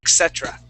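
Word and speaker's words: etc.: Etc there you go that's how you pronounce that word Etc as in Spanish yeah it's the same except for that R okay that R is an English R etc etc ET yeah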